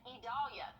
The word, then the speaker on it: Idalia: going to be due to Tropical Storm idalia idalia there we go had to make sure I pronounce that right tropical storm idalia so it's